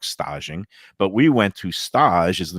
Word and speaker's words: stage: It's spelled like Stage Deli, but it's Yeah. not Stage Deli. It's Stage, the fancy foodie way of pronouncing it.